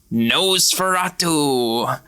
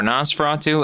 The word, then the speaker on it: Nosferatu: that's also Mar we're talking about no Fatu or Nas Fatu however you want to pronounce it Laura gave me a